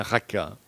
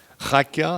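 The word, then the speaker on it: raca: la traduction du motaraméen raka raka c'est un en hébreu c'est un c'est la lettre vous devez la prononcer de manière guturale donc en prononçant ce terme c'est comme si vous crachiez à la figure de votre interlocuteur Jésus dit si vous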